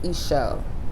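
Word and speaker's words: Ixchel: And her name is pronounced Ishel.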